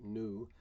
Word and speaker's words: nu: nu for frequency and you pronounce it nu and it looks an awful lot like a v the speed of light